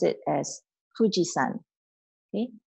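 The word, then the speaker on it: 富士山: And if we are referring to Mount Fuji, we pronounce it as Fujisan. Okay, Fujisan.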